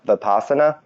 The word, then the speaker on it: Vipassana: you guys ever heard of, I think it's pronounced Vipassana?